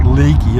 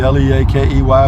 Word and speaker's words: Leakey: Junction is 70 miles Leakey it looks like Leakey l EA ke Y but up here it's pronounced Leakey so enjoy the drive ladies and